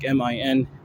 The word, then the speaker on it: Manhattan: I said, I usually say Manhattan, or like Manhattan. But AK, he'll I mean, I kind of say it like that too, but Manhattan, like MINHA''EN, Manhattan. It's just a really peculiar way of saying it, and I know that